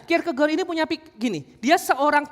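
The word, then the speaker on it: Kierkegaard: Ini bacanya Kirk keg lah. Ini kalau Oh, ini teolog Denmark. Nanti kalau yang jago bahasa Denmark, kalau saya salah ucap nanti koreksi saya ya habis khotbah ya. Nah, Kirk kegor ini punya gini.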